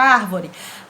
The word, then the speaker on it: árvore: e proparoxítona é acentuada vejamos a palavra arvore arvore arvore ré a última ou vó é a penúltima e o ar é a até penúltima importância a sílaba tônica fu a sílaba mais forte pra até penúltima a palavra é considerada proparoxítona estamos acertados com a